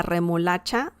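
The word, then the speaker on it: remolacha: lastly we have beets or a beat la remo lacha that's singular la remo lacha that's a very interesting word the pronunciation is very it's it's not challenging but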